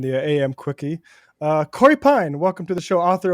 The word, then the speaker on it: Pein: name it's you know am I doing that no Pine is Pine is right you got it I